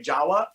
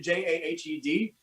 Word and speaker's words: Jahed: I'm going to spell your name, because I want to say Jawa, because I think it's like the closest thing I can pronounce to Jawa. That's kind of how it's pronounced, but it's actually Jahed.